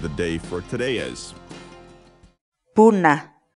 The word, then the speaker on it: puna: series videos where we teach you how to pronounce certain words in Quechua so our word of the day for today is pune pune pune in English the Quechua word funa means